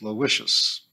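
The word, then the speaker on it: Aloysius: poor fellow had been christened aloicious locally pronounced as Lous and was given much given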